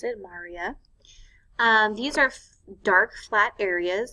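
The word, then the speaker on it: maria: one are called the Maurya that's how you pronounce it Marya these are dark flat areas that are on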